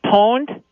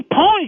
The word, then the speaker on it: pwned: It's like, well, first of all, they I don't know if you're familiar with the term pwned.